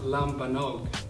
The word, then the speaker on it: lambanog: you're watching MMB films so uh infant lambanog pronounced lambanog was uh it's a brand of lumanog Phil